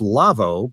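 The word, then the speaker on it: Lawo: by our friends at Lavo that's it's pronounced Lavo but it's spelled la wo because it's a German company Philipp Lavo is the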